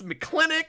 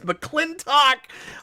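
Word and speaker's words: McLintock: McClintock, and it's pronounced like four different ways in the movie. It's McClintock, it's McClintock.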